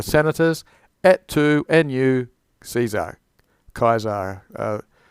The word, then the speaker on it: Caesar: Et tu nu Caesar, Kaiser. Things like Cicero and Caesar, though has a hard C.